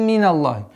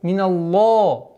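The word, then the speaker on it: من الله: Расулун миналлахи. Удерживаем два счета. Миналлахи. Удваиваем. И твердое произношение лям. При произношении звука лям не должно звука о. Миналло, ло. Является ошибкой, потому что в арабском языке нет звука о.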